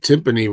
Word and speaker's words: timpani: I think timpani rhymes with him and me.